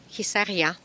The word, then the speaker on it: Hisarya: Et nous voilà côté sud de la ville de Khissaria. Pour votre information, si vous voulez le chercher sur Google, pour plus d'informations, ça s'écrit H-I-S de Sophie A-R-Y-A, Khissaria.